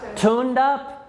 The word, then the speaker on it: tuned up: So Noah's car would use less gas if he tuned up. Good, past tense. Tuned up. Because you have to pronounce that D.